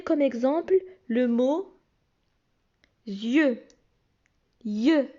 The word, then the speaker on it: yeux: Yeux, ça s'écrit Y-E-U et ça ne se prononce pas I-E, ça se prononce yeux.